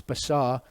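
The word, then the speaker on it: בשר: there in the middle bait Sheen race that's basar but this doesn't have a DOT so it's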